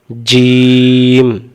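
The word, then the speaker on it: ج: তা এই অক্ষরের নাম জিম আমি প্রশ্ন করবো উত্তর দিবেন জিম অক্ষর কেমন করে পড়তে হয় জিম অক্ষর জিহ্বার মাঝখান থেকে শক্ত করে পড়তে হয় উচ্চারণ যাই জের জবর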